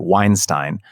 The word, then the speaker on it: Weinstein: I realized I mispronounced his name the first time. It's kind of a force of habit. Brett Weinstein.